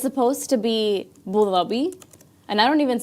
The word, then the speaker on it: Abu Dhabi: Thei, but technically it's supposed to be bulabi.